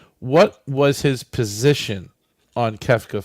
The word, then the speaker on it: Kefka: Kafka That's it. 4. Okay, well, I don't know. Okay, wasn't clear. But I pronounced it more like the author that wrote the Metamorphosis.